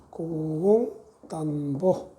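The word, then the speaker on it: 고공단보: 13대째 고공 단보라는 사람이 있어요. 아버지 부자는 사람 이름일 때는 보로 발음을 해요. 고공 단보.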